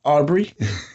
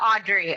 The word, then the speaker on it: Audrey: I'm here with uh you said they call you Aubrey well Audrey Audrey just call me Audrey okay I'm here with Audrey and she specializes in